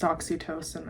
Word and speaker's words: Oxytocin: So it is pronounced oxytocin.